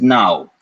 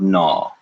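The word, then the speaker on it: नौ: you will hear people say the number 9 as now instead of naw either is fine but now you'll hear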